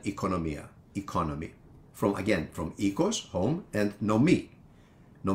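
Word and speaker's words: οἶκος: teach is the word for home which is ecos or Oikos for those of you that study ancient Greek through the erasmine pronunciation although modern Greeks also use the word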